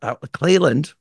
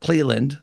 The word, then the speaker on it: Clelland: Clelland, I pronounced that correctly, not Cleveland, as you may have thought when you first saw the title of the episode.